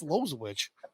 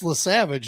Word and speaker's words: LaSavage: I was like, "That's Lozwich." Like, no. It's pronounced LaSavage.